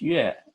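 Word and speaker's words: 月: this character second-to-the-last I would memorize that it's pronounced yeah and that it means moon and when I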